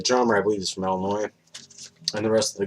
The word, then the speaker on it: Illinois: to say is from illinois the s is silent it's not all noise but uh yeah the drummer i believe is from illinois and the rest of